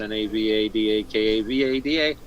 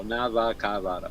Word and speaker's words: Navakavada: That's Navadakavada. It's spelled just like it sounds. No, Navakavada.